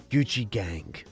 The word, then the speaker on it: Gucci Gang: He got what the kids call Gucci Gang.